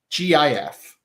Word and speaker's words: GIF: oh really you changed the majority of the time I say GIF like the peanut butter interesting I'm a gift